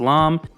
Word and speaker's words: lame: here is called alam it's spelled lame and pronounced lom these things are really